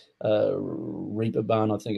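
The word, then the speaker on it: Reeperbahn: uh the what they pronounce is the the raper barn but it's spelt that's the the German pronunciation re we would say uh reaper bun I think it's spelled R E A P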